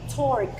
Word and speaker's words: torque: Number five, torque. Torque. Remember, you don't have to say the letter E at the end of the word.